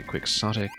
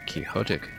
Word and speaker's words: quixotic: Well, uh there are two pronunciations that are pretty reasonably acceptable. Some people say quicksotic, others say kiote after doniote lancha. Uh both are pretty common in English actually.